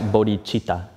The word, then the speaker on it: Bodhicitta: So wisdom and compassion together, we talk about Bodhicitta. Bodhicitta. Notice this is spelled just a C. There's no CH. This is how we spell it in English, but we pronounce it Bodhicitta.